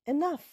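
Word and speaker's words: enough: রাস্তা রুক্ষ পরেরটায় যাই এন O Yuji H এনাফ এনাফে ও সাইলেন্ট এনাফ মানে যথেষ্ট।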